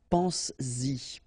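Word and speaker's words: penses-y: produce it orally, because you will pronounce it pense-y, pense-y, okay? Pense-y, all right? So you get to make this liaison.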